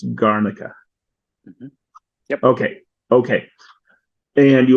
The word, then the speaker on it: Garnica: heard of it and tell me if I'm pronouncing it right it's garnica yep okay okay and you were saying how